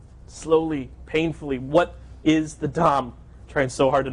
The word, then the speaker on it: DOM: go-between search of the d rhymes with arm Dom right some of you